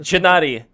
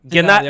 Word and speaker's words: Gennady: Gennady. Gennady, Well, okay, in so Russian sorry. it would be Gennady I II. can't do that, so I'll say Gennady. Yeah, like back to the point he was making with the AGI.